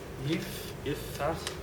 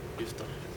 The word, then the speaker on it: Yiftachel: Oren Yiftachel, who is actually sorry. Did I pronounce correctly? Yiftachel. Three syllables. Yiftachel.